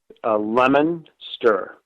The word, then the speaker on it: Leominster: Leominster.